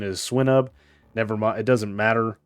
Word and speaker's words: Swinub: Now, I believe the correct pronunciation is Swinub.